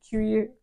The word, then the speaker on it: cuir: It's supposed to be a leather scent, obviously with a cuir or cuir. That's how you say it in French, I think.